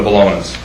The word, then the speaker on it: Bologna: I just wanted to ensure from the Bolognas.